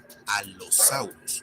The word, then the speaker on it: Allosaurus: Y hablando de letras dobles, tenemos a la doble L, que se debe pronunciar de esa manera, doble. Es decir, una vez en una sílaba y una segunda vez en la otra sílaba. Veamos, por ejemplo, a, que se pronuncia Allosaurus y no Allosaurus, como sería en español.